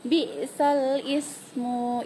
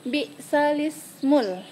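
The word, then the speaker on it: بئس الاسم: Nah, cara bacanya bukan bi'salis. Nah, di situ cara bacanya bi'salismul. Jadi, kita pindahkan harokat alif, yaitu kasroh, kepada huruf lam sukun. Jadi, bukan bacanya bi'salis. Jadi, kita sambungkan dia bi'salismu gitu.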